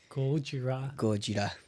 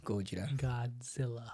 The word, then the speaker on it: Gojira: Gojira. From now on, that's how we pronounce Japanese way. Gojira.